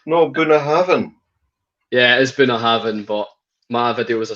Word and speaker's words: Bunnahabhain: This is a comment on one of my videos that's going to drop next week about how to pronounce whiskies. Is it no Bunnahabhain? Yeah, it is Bunnahabhain, but my video was a slight mistake.